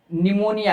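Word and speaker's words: pneumonia: आगे है आगे है निमोनिया यानी इसमें पी जो है साइलेंट है।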